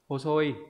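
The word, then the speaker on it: 細い: Còn nếu không có ấy, nó sẽ đọc là hosoi. Như vậy đáp án đúng của chúng ta ở đây không có chữ ka, như vậy phải đọc là hosoi.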